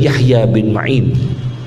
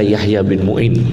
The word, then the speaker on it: Yahya bin Ma'in: Ahmad bin hambal dan Yahya Bin ma'in jangan baca Yahya Bin Muin Yahya Bin main kipas mu itu jangan